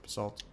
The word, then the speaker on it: basalt: That's how you pronounce it, basalt.